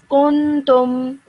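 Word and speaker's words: كنتم: So you would pronounce this as kuntum.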